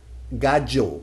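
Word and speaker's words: gallo: natural for Latin American Spanish so we have gajo Gago for rooster one more thing the letter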